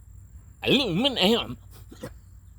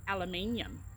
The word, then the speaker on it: aluminum: Aluminum. Aluminum. But now, in other countries, they also say aluminium.